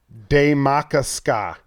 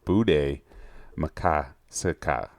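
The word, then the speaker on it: Bde Maka Ska: dropped, and it's called Daymakasca. Daymakasca. You're actually kind of close on that one. You're kind of close. The actual pronunciation of that one is Bude Makasika.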